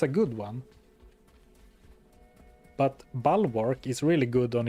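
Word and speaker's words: Bulwark: Balwark is the pronunciation. Yeah, that's what I'm saying. Bal work, right? No prayer guy at all. What are you looking for? Bal as in the animal.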